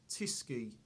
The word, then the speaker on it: Tyskie: you guys have chosen is this it is pronounced tisy and uh is from Poland I first had